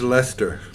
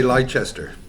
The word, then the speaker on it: Leicester: them next sheffield united versus lester this could be the weekend or the americans say lychester look this this could